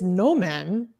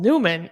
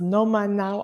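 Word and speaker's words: Noman: up I thought he told us that the correct way is Newman because I was sure he did I think I would normally read this no man I wouldn't I wouldn't read how this is spelled Newman if not told otherwise I'm confused but he's telling us it's Noma now I will trust him no we will switch to no man from now people in the live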